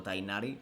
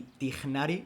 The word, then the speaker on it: Tignari: Pero Tainari, o sea, Tainari y Tignari no tienen nada que ver.